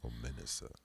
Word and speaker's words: Omenesa: Omenesa. Yes. Been pronouncing They it wrong can all find night.